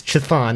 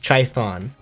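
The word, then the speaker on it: Chthon: or but it's uh no they pronounced it uh the demon chython they said childhood and it's like you couldn't even be bothered to say the name right it's chiffon not try thon there's a h there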